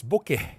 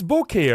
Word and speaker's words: bokeh: Like, it's bokeh, right? What, is it bokeh? I didn't say bokeh, because they say it rhymes, the way I say it rhymes with okay.